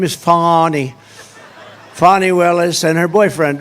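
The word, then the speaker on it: Fani: right is anybody fonny it's pronounced fonnie F A ni I that's Fanny but she likes it fonnie when she became the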